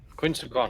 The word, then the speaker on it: Quetzalcoatl: Quetzalcoatl. The actual That'd be the actual pronunciation of that.